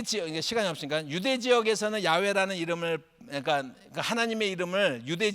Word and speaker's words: 야훼: 그러니까 아도나이 발음의 모음을 그대로 올리면 이 발음이 어떻게 되냐면 여호와가 되는 거예요. 이게 여호와. 그러니까 여호와는 틀린 발음이에요? 맞는 발음이에요? 여러분 저도 당황스럽지만 100% 틀린 발음이에요. 그런데 야훼라는 말 들어봤죠?